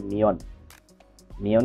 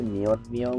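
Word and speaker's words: 몇 명: আর এখানে আমি যদি সিঙ্গেল উচ্চারণ করি তাহলে উচ্চারণ হবে মিয়ন, আর যদি একসাথে বলে তাহলে হবে মিয়ন। মিয়ন কেন হবে, অর্থাৎ ত বাচ্চিমের পরে যদি ন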